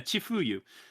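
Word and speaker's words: 千冬: How do you pronounce? Yeah, Chifuyu.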